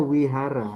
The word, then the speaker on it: vihara: Ini V dibacanya W ya, W ya dibacanya. Seperti tulisan vihara itu dibacanya wihara karena V dibacanya W ya.